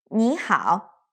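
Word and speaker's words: 你好: But when we pronounce two-syllable words, there shouldn't be a long pause in between. For example, hello is 你好. We'll say it like 你好, not like 你好. So just one breath, using the rest of your air to say the second syllable.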